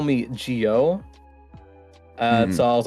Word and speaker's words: Jyo: tend to call me Jyo. So I was like, just like to reiterate, I can't speak. How to pronounce it. I was like, oh yeah, like Joe, as in Joe Mama.